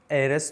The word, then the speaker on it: heiress: হ'ব সাইলেন্ট হৈ থাকিব ইয়াতে h আছে এই h ৰ উচ্চাৰণ কি হৈ আছে সাইলেন্ট হৈ আছে গতিকে সেইসমূহ শব্দৰ আগত যদি আমি আৰ্টিকল বহাব লাগে তেনেহলে আমি n বহাম She is an heiress to her father's property.